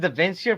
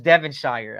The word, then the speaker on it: Devonshire: I've always pronounced it Devonshire for some reason, but it's Devonshire. I've learned it.